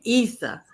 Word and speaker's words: Isa: So this is how you say her name, Isa.